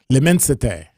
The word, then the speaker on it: L'immensité: It's from Louis Vuitton, and it's spelled L apostrophe IMMENSITE accent aigu, accent grave, one of them. All right. L'immensité.